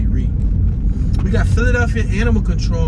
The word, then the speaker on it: Rea: To me, the A is silent. I just say Ree.